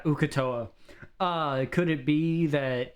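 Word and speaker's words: Uk'otoa: How do you pronounce that? Ukatoa. My bad, gang. Not, yeah. The other things that I was saying were wrong. But yeah, Ukatoa.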